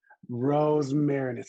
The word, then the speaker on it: Rosmarinus: Rosmarinus. Rosmarinus is perfect. You're fine. Rosmarinus.